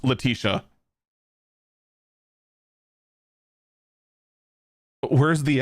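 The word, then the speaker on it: Letitia: general man I am blanking on how to pronounce that Latia Latia James however it's actually pronounced I I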